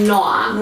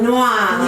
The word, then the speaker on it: Noa: So Noa. Noa.